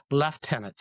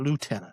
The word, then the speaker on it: lieutenant: In Canada, we have left turn left tenants, I should say. Pardon my my stumble. It's left tenant. It's not lieutenant. Lieutenant is American.